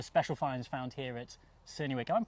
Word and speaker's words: Cerney Wick: And what we've got here is a special finds found here at Cerney Wick. I'm pronouncing that right? Yes, Cerney Wick, that's correct, yes.